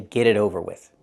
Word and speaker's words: get it over with: We hear the t and get is a fast d.